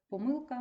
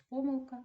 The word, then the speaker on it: помилка: письмових роботах До речі слово помилка має подвійне наголос помилка і помилка можна говорити і так і так Дякую за увагу Бережіть